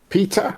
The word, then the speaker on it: PETA: Animal rights group Peter or Peta, depending on how you want to pronounce it, calls for Peter calls for Nintendo to remove the cow's cruel nose ring.